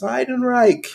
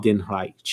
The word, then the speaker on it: Heidenreich: I'm so happy that you said his, because I have no idea how to pronounce this shit. Yes, Heidenreich. Have you not listened to his theme song? Heidenreich.